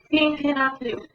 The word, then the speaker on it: Thinking of You: Esa TH, lengua entre los dientes. Thinking of you.